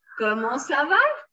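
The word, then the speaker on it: comment ça va: are you in french como slava you have it written here this is ko mo and we don't pronounce this t sa then for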